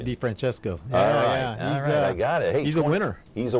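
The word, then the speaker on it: DeFrancesco: he is right there and what's the correct pronunciation D Franchesco I got it hey's a winner he's a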